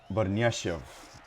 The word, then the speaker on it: Barnyashev: From the commentary, I saw that, or I heard that Illich, it's pronounced Illich, and Barnyashev is how you pronounce the other player's name.